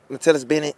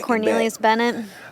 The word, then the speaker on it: Cornelius Bennett: Matellis Bennett. Mhm. I'm just going back. Cornelius Bennett.